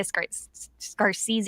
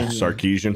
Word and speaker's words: Sarkeesian: They specifically state Anita Scarsese. I can never pronounce her fucking name. Anita. Sarkeesian.